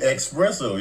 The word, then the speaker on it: espresso: correctly I did too I said my word correctly too espresso you still saying it right all right I'm moving